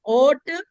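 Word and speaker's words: ought: Okay टू ऑक्ट टू का पढ़ते हैं इसको। क्या पढ़ते हैं? टू टू नहीं है ये है ओ टू ओ टू देखो इसमें भी एल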